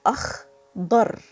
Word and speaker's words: أخضر: So it's a dad, not da. It's akhdar.